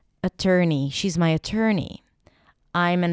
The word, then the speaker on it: attorney: Uh, uh, then tur. Tur as in turkey. And then knee. Attorney. Attorney.